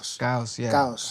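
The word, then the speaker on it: Caos: What I want to how do you pronounce the title? Gos. Yeah. The word in Spanish for chaos.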